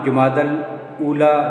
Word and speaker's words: جمادی الاولیٰ: مہینہ جمادی الاولیٰ ہے۔ اس کا صحیح تلفظ جمادی الاولیٰ ہوگا، یعنی جیم کے اوپر ضمہ اور پیش پڑی جائے گی۔ یہ مرکب توصیفی ہے، جمادی موصوف ہے اور الاولیٰ اس کی صفت ہے۔ کیونکہ موصوف اور صفت میں تذکیر و تانیث کی یکسانیت لازمی ہے، لہذا جمادی الاول کہنا درست نہیں ہوگا، غلط ہوگا، اور صحیح تلفظ جو ہے یہ جمادی الاولیٰ ہے۔ جمادی کا لفظی لغوی